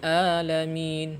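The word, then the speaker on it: العالمين: Kemudian di sini juga ada huruf ain. Ya, di sini kita harus lebih bersungguh-sungguh untuk menyebutnya. Ya, karena ketika kita membacanya dengan bermalas-malasan atau kurang semangat, terkadang huruf ain di sini jadi a.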